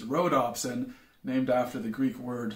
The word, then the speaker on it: rhodopsin: called photopsins whereas rods have an option called rod opsin which makes a hell of a lot of sense until i tell you that i both misspelled and mispronounced that it's not rod ops and it's rhodopsin named after the greek word for rose and